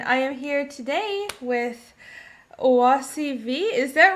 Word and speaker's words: Oasi V.: indie comics and i am here today with oasi v is that right that's exactly how you you guys asked me how to pronounce my nickname and i didn't ask you